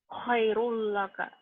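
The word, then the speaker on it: خيرٌ لك: Kemudian khairun laka dibacanya jadi Khairul laka.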